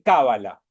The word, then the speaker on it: Cábala: son esdrújulas las palabras en hebreo en general se suele acentuar la última sílaba y en hebreo se dice cabala que ahora vamos a ver de dónde viene y todo demás que es fácil en castellano se le dice cábala y en inglés se